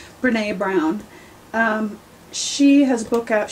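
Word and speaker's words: Brené Brown: Brene Brown.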